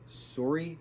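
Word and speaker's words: Sayuri: So this story revolves around this girl Chio, who then later calls herself Suri, but it's spelt Sauri. I think that's how other characters were saying it.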